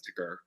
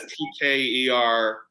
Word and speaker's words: TKer: been pronouncing it as ticker it started it started as tker but now it's ticker okay ticker editor of